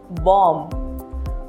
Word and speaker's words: bomb: Whenever B follows the letter M in a word, then B is silent. For example, comb, bomb, thumb.